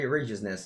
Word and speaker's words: Righteousness: Alright, anyway, yeah, the righteousness is something. It's pronounced like right.